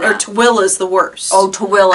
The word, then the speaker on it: Tooele: you would say By the way, it's spelled, or Tooele is the worst.